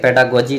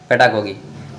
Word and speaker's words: pedagogy: ठीक है, तो बहुत लोग पेडागोगी बोलता है, बहुत लोग पेडागोजी बोलता है। सही उच्चारण क्या है? चलिए जो भी है पेडागोगी होगा। ठीक है, पेडागोजी नहीं, पेडागोगी। तो इंग्लिश सेमेस्टर थर्ड पेडागोगी,